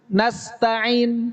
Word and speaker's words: nasta'in: Atau misalnya na'budu nasta'in. Ini pakai ain.